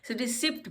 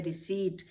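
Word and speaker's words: receipt: हैं, रिसिप्ट पढ़ते हैं, लेकिन कभी भी रिसिप्ट नहीं पढ़िए, ये वर्ड है रिसीट, क्योंकि इसमें PT इकट्ठा और इसमें P साइलेंट हो जाता है और ये हो जाता है रिसीट, रिसीट।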